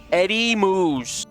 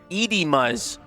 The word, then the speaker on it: Edimmuz: Edimuz. Eddie Moose. I've been pronouncing it Edie Muzz.